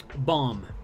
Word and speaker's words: balm: two subjects right um bomb b-a-l-m like a lip balm that's another one so you know what i totally take back my case there are plenty of words with silent l's thank you for